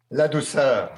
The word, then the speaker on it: Ladouceur: Ladouceur.